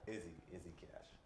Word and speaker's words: Izzy Cash: Izzy Cash. I was thinking like easy cash, like you get money. Yeah? Yeah, but you pronounce it a little different.